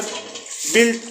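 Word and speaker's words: built: पर you silent है दूसरा है बिल्ट तो बी यू आई एल टी यहां पर यू साइलेंट है तीसरा गिल्ड तो यहां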